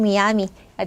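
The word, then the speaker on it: Miami: 물론 뭐 이제 마이아미라고 하는 사람들도 있지만 스페인어 발음 그대로 하면 미야미가 되겠죠?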